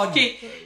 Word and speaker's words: hockey: Au hockey. Oh, ok. Faut pas prononcer le H au hockey.